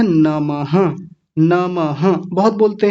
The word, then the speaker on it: नमः: नामहः तो यह पीछे जो दो बिंदियां आपको दिख रही हैं, इनको बोलते हैं विसर्ग। क्या बोलते हैं? विसर्ग। विसर्ग का मतलब होता है ये आधे ह जैसी आवाज देते हैं। पूरे ह की आवाज नहीं आधे ह की आवाज। तो क्या बोला जाएगा? नमः ऐसा बोलेंगे नमः।